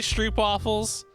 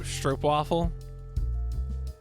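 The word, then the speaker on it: stroopwafel: the Dutch delicacy of look I'm going to say it phonetically is it actually strep waffles I don't think I'm familiar with it though well it's like why I say orange instead of orange stro stro stro waffle whatever Dutch words aren't real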